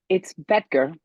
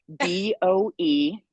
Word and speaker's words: Boetger: It's Boetger. Boetger. Yes. I said it wrong. Okay. How do you spell it? No worries. Boetger. So the O is silent. It's Boetger.